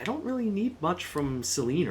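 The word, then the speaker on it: Selene: I don't really need much from Seline right now. I know the game pronounces it Seleni, but I do think that that's a misprononunciation. I think it should be either Seline or Selena.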